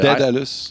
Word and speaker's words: Daedalus: Maybe it's an American thing, but Daedalus. Yeah, like dead, like D-E-A-D, Daedalus. I call Isn't it that Daedalus. how you say it? Daedalus, like D-A-E-D, Daedalus.